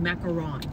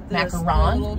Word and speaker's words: macaron: is a completely different so yeah wait it's pronounced macaron macaron yes so the colorful ones the colorful cookies